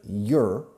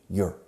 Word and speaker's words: you're: I'm the teacher, you're. Fijaos por favor en esta pronunciación porque los españoles pronunciáis mal diciendo your. You are the student. Contraction, you're. It's como una I latina.